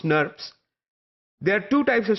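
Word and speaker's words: snRNP: ribonucleoprotein particles that are abbreviated as SN R and PS or pronounced nerves there are two types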